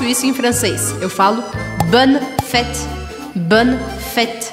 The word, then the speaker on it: bonne: Eu falo bonne fête, bonne fête. Então, bonne é no feminino plural, bonne, mas eu vou pronunciar até o N, bonne, bonne, e fête, bonne fête.